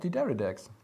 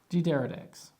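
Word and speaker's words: D'Deridex: I'm going to let you pronounce it, because I probably will pronounce it incorrectly. It's not that difficult. It's called Dideridex. Dideridex, okay.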